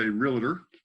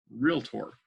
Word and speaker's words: realtor: the term real tour you'll probably hear some people say realtor but if you look there's no extra syllable between the element II it's not real tour it's real tour so as a real